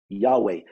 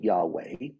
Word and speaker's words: Yahweh: HWH which we pronounce Yahweh they actually put additional vowels in there so they could have something pronounceable Yahweh but in the original